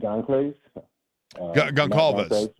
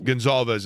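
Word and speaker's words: Goncalves: I think the Colts found a gym and um what's the the right guard's name is Gonz Gonalves. Gonzalez. Gonzalez is how it's pronounced.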